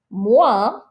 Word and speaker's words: moins: Moins would be less. So there's the little minus sign. Moins, remember you're not pronouncing these S's at the end.